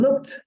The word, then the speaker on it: looked: Recuerden, la mayoría no se pronuncia la E, como en este caso.